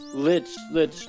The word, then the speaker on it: Lich: It's just Lich turned out to be a bitch. He did. It's funny that his name rhymes with that.